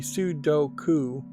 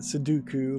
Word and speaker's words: Sudoku: I am mispronouncing it it should be Sudoku um and I've been calling it suduku like Count Dooku from Star Wars this whole time um but yeah Japanese